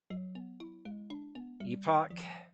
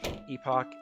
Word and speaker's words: epoch: Epoch and Epoch are both correct. Oh god. Huh? Okay. You have nothing to say about this, huh? You pronounce it both ways.